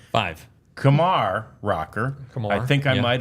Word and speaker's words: Kumar: most of the media it's like Lamar It's Kamar uh which is a good way to remember it and uh that is how the correct pronunciation of of rocker's name is Kamar rocker it's it's so